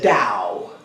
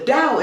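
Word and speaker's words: Tao: So the Dao is spelled T AO, not D O W.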